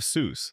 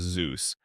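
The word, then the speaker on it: Soos: The character of Seuss, the beloved handyman of the Mystery Shack, whose name is consistently mispronounced as Zeus by nearly everyone he meets, was based on a real friend of Hersh's from college.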